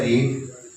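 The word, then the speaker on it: read: यहाँ पे है रीड, रीड्स, रेड, रेड, दूसरी फॉर्म को रेड रेड कहते हैं, स्पेलिंग सेम होते हैं।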